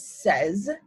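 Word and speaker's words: seize: similar but not quite 16 is says just like 6 is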